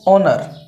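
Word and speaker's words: honour: चलो अब आगे देखो ओनर अब यहां पर जो है वो क्या है यहां पर हा है वो साइलेंट है तो क्या लगेगा यहां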